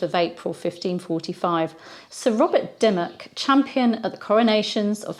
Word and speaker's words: Dymoke: m ke die oak it's more commonly pronounced Dimmick Robert Dimmick was born